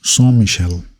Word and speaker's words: Saint-Michel: Correct pronunciation is Saint-Michel, which is a very central location.